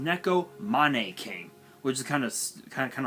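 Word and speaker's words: Neko Mane King: Neko money King I I don't know why people pronounce it as nego main Keen it's pronounced Neko Mane came which is kind of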